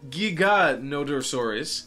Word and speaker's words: Giganotosaurus: giant dinos name is giganotosaurus notice a slight difference in the accents nevertheless it's basically pronounced with a soft g again both pronunciations are